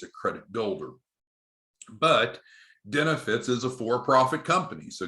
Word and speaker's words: Denefits: What we had been primarily doing is using a financing group called Denefits. It sounds like the word benefits with a B, but Denefits has a D at the beginning, D like dog.